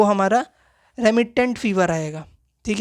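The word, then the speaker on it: remittent: पूरे दिन, है ना, तो उसको रेमिनेंट फीवर बोलेंगे, रेमिटेंट फीवर, ठीक है, प्रोनाउंसिएशन होगा रेमिटेंट फीवर, है ना।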